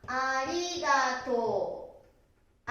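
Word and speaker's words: ありがとう: 7 番、ありがとう。ありがとうですね。とうですね。でも正しい発音はありがとう。ありがとう。ありがとうと言います。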